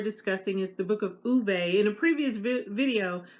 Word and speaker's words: Ove: In a previous video, I called it the book of Ove because I didn't know I was, mispronouncing the name. But from what I understand, it's the book of a man called Uwe. Sorry, a man called Uwe, O-V-E.